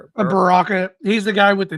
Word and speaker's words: Baraka: How do you pronounce him? Bar- Baraka.